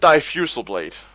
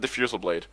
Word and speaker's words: Diffusal Blade: guy who um who pronounced it defusal blade defusal blade instead of diffusal Blade um there was some